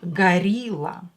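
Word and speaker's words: горилла: in english right gorilla in russian o will be pronounced as a because it's not stressed gorilla rasho darshan and we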